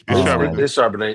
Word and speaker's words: Charbonnet: They got a two-headed monster in the backfield with Charbonnet, and that might not even be how you say his name, but I want some wine. No, it's Charbonnet.